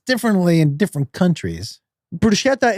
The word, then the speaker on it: bruschetta: Bruschetta is Italian.